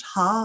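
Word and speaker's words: ห้า: i particularly like the the five in thai which is pronounced ha i understand um and so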